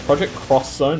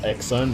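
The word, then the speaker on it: Project X Zone: oh remember as well it's project cross zone not exxon because whatever someone in japan writes x they mean cross exactly i think that's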